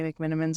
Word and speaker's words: McMenamins: to go to the McMenamins pool before I say McMenamins wrong did I say it right that time you did that say oh